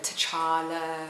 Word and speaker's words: T'Challa: like a child I was as it's a T'Challa child oh it's cha cha cha cha ok